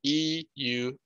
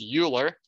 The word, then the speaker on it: Euler: This is an irrational number, and in honor of Euler's name, which is spelled E-U-L-E-R, we don't pronounce this as Euler, it is Euler, and with his name starting